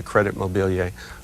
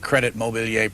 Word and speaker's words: Crédit Mobilier: You know, in the last 11 years of book notes, I've had Credit Mobilier pronounced Crédit Mobilier. Oh, yeah. Credit Mobilier. Yeah, right. What's right? What's right? Probably Crédit Mobilier.